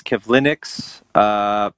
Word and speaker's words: Kivlenieks: So in the hockey world here on the weekend, Columbus Blue Jackets prospect goaltender Matisse Kivlenieks passed away over the weekend. He's applauding my pronunciation and not.